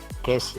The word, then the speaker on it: guest: Guest ya. Nggak ada u-nya ya bacanya ya.